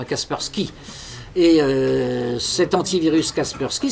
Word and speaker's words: Kaspersky: s'appelle Casper Sky puce qu'on prononce à l'anglaise Kaspersky et euh cet antivirus